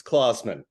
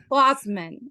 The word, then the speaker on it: Klausman: It's like Santa Claus. It's Klausman. Klausman.